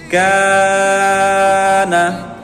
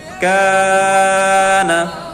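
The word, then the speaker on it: كَانَ: Kana, ya, na-nya jangan dipanjangkan, cukup kafnya saja. Kana.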